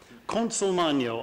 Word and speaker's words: Consolmagno: Consolmagno, I'm told, is the Italian pronunciation.